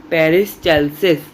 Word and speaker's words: peristalsis: ये याद रखिएगा, इसे मैं प्रोनाउंस फिर से कर रहा हूँ, पेरिस्टाल्सिस। इसकी स्पेलिंग भी बता देता हूँ, PERISTALSIS, पेरिस्टाल्सिस।